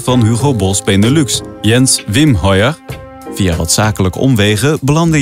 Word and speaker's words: Wemheuer: Hoe spreek je achternaam eigenlijk uit? Wim Hoyer. Wim Hoyer.